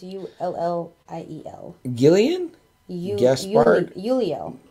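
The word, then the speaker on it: Ulliel: Gaspard, I cannot pronounce his last name. It's U-L-L-I-E-L. Gillian? Gaspard? Uliel. Uliel.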